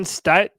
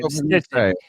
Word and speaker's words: Steichen: So right now, according to BetOnline-AG, Shane Steichen. People were trying to correct me in the chat. Apparently, I'm saying his name wrong. I've been saying Stitchin. Stitchin. Okay, Stitchin.